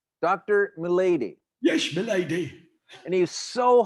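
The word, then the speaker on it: Melady: me lady m e l a d y pronounced milady dr milady yes milady and he's so hyper it was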